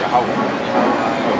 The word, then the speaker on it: Yahweh: This is how you pronounce the real name of the Heavenly Father, not the one called God, Jehovah. This is Yahweh.